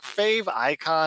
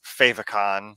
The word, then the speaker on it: favicon: fave icon logo and it's like fave icon I don't really know how to pronounce it it's one of those things that I've only ever seen written down so in my head it's favicon the same way like emoticon but I can imagine